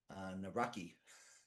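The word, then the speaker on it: Nawrocki: I I have a a very big connection with Poland and the Navroski government, which I believe President Trump calls Naraki. Um, but that's the way we would pronounce it in the United States.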